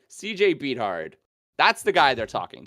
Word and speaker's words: Beathard: CJ Beathard. That's the guy they're talking to. I Right believe now. it's pronounced Bethard.